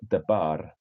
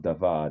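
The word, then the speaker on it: דבר: word in Hebrew is the bara right or devar depending how you pronounce it word and it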